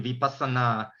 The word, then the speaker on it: vipassana: word vipassana um yeah in in in pali would be vipassana uh i'm not particularly